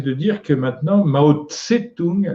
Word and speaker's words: Tse-tung: Ce qui m'intéresse, c'est de dire que maintenant, Mao Tse-tung, le Tse, c'est une prononciation qu'on trouve dans l'hébreu, on écrit simplement T et ça se lit Tse, Tsade.